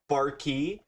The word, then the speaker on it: Barqui: that has ever said Barqui until now. And And according to Leo Barqui, he said it's it's he said it's pronounced Barkey, but he just doesn't know.